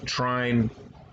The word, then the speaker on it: Trine: notes to people ferments pronounce this game as trying it's the ultimate collection however I believe the proper European pronunciation like I said before I think is three-name and it's I believe Latin for three or three people or